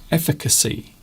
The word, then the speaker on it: efficacy: It's not an easy word to say. As you noticed when I tried to say it just I got it wrong first time and then I got it right. Efficacy because there's two CS and quite often when you